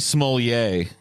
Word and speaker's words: Smollett: Jussie, is it Smollett or Smollett? Jussie Smollett is how you say it. Jussie Smollett. No, it's really it's Jussie Smollett.